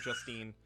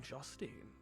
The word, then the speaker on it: Justine: ansing justin the amzing justine yes oh i am saying justine that's no it's pronounced justin i got a good